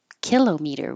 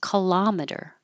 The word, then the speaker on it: kilometer: this word I think kilometer but we don't pronounce them that way way we say cimeter millimeter but we don't say kilometer we say kilometer I don't know why horor this is where